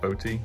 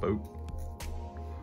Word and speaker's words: Bote: I think that's how you say it, Bote, not Boat.